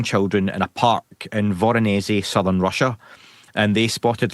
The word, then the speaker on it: Voronezh: Okay, your third pick, and I'm probably going to butcher the name here of Voronezh. Is that Did I say that right? Yeah, I would say Voronezh, but you know, I